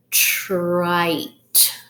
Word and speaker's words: trite: At the end we see an E, which makes this a silent E syllable. So the E is silent, but it helps the I make a long I sound.